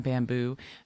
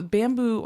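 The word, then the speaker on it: Bambu Lab: We're going to focus today on Bamboo. Bamboo Labs is a printer company that and spell it for the people. It's not bamboo is the way you think.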